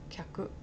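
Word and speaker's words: 客: Kyaku would be so difficult for the American, I think. Because I don't know anything similar pronunciation in English.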